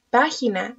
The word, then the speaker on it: página: Página. Nombremos sus sonidos una vez más. P, A, G, I, N, A. Página. Vamos a separar la palabra ahora en sílabas. Pa-gi-na. Una vez más. Pa-gi-na. Palabra completa.